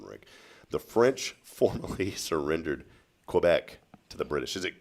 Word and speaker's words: Quebec: you were born, Rick, the French formally surrendered Quebec to the British.